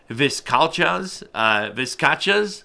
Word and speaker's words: vizcachas: They'll hunt, how do I even pronounce it? I'm looking at my note here. Vizcachas, that's right.